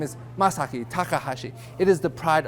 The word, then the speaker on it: Masaki: for Mishi uh a Miyaki masago is it you it's masaki actually I think to myself after I correct the pronunciation of my name where do they get these other letters from like Miaki really and why is this person